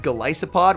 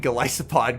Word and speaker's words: Golisopod: I recently learned that it is pronounced Golisopod, which you guys should make sense. It's a Goliath Isopod.